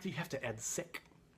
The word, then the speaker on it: sic: So you could put in brackets the three letters SIC, which I'm going to pronounce sick.